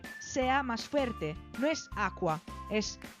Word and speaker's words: acqua: En italiano hay otra combinación que es CQU, que se pronuncia lo mismo, Q. Pero en este caso la C hace que la Q sea como doble, o sea que el sonido sea más fuerte.